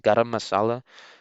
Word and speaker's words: garam masala: But it's pronounced garam masala, and it's a spice mix basically.